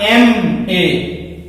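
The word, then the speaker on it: M.A.: एन एम ए master of arts, इसका उच्चारण हम करें तो क्या होगा? एम ए। शुरुआत किससे हो रही है? ए से।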